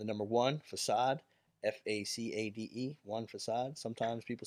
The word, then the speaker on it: Facade: Sometimes people say Facade, sometimes people say Facade, sometimes people say, man. It's depends on what country you're in. Yeah, depending what country, people do not know how to say it. Check me out, Pro Wrestling Tees. I think it's French.